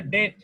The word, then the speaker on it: debt: এটার উচ্চারণ ডেপ্ট না, ডেট ইউটিলাইজেশন রেশিও। মাহবুব কি উচ্চারণ বলো? স্যার ডেপ্ট, DEBT স্যার, ডেপ্ট। এটা বলছি যে ডেপ্ট না, এটার উচ্চারণ ডেপ্ট না, এটার উচ্চারণ হচ্ছে ডেট।